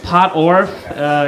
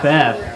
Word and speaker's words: Pottorff: It's Pottorff. It's a pretty simple name. It's spelled like how it sounds. Pottorff.